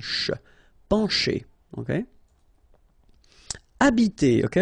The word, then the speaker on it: habiter: Remember that in French, the H, H, like that here, is not pronounced at all, okay? So you don't pronounce it, so you get the first sound is the vowel A here.